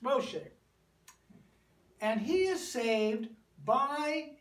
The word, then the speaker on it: Moshe: escape Farrell's wrath and we call him in English Moses but in Hebrew his name is Moshe hey it's Moshe and he is saved